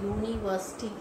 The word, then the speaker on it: university: Then we use a, like in university, it is starting with the vowel word u, but the pronunciation is y-o-o, university.